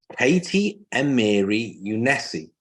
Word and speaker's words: Katy Amiri Younesi: So we're today joined by the inspirational and wonderful lady called Katy Amiri Younesi. Have I got the pronunciation right, first and foremost?